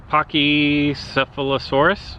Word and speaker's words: Pachycephalosaurus: this one it's Pocky I call it patchy but Pachycephalosaurus I believe is how we pronounce this it's a baby it's level